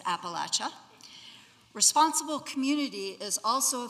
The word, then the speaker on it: Appalachia: Please notice the pronunciation for those of you from the north. It is Appalachia.